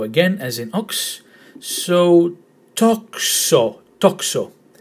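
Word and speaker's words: τόξο: So toxo, toxo, with the emphasis in the first syllable.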